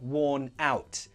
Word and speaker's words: worn out: but it's very common to use this as an adjective I'm worn out pronunciation you link those together "wor-nout" The N joins